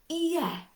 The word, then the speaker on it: ie: be fine it will we do have a word for yes which is yeah and it's not a lazy yeah it's yeah yeah you try it that's honestly the south wales pronunciation a little bit different